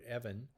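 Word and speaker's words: אבן: the first word is the word I'll just pronounce it for you it's the word Evan and it's almost exclusively translated in our Bibles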